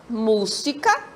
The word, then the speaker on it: música: penúltima e antepenúltima lê observe a palavra música quantas sílabas tem mu Sica a antepenúltima né o última penúltima e antepenúltima desculpa palavra América quantas sílabas